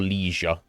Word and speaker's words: leisure: you prefer to do for leisure or Le Asia if you prefer that pronunciation um and I don't